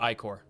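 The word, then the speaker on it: ichor: upon their shoulders golden acor spills under the land that word is pronounced ior by the waying the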